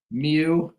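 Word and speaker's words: μ: letter for mean nice thing is this is pronounced mu this one is Sigma and the first letter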